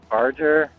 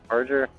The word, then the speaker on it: Barger: Um another book I really enjoyed is Hell's Angels by Sonny and I always pronounce his last name wrong, but it's like uh Barger. Barger.